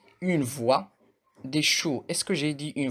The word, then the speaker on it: choux: Le X, une voix, des choux. Est-ce que j'ai dit une voix ou bien des choux? Non, du tout. Le X ne se prononce pas à la fin d'un mot.